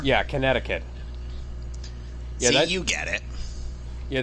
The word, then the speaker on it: Connecticut: it's supposed to be it's supposed to be connect etiquette but we end up pronouncing it as though there's a D in there yeah Connecticut yeah you get it